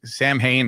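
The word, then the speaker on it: Samhain: Sam Sam Hayne, I guess that's not the proper way to pronounce it, but that's how we pronounce it over here.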